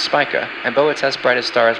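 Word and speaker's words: Spica: leaving the heavens vergus Virgo's brightest star is pronounced spika and boes brightest star is pronounced Arcturus Libra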